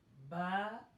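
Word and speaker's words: ب: So do not recite the Arabic alphabets like in Urdu, like Alif, Be, Te, Se. Pronounce them like Alif, Ba, Ta, Tha.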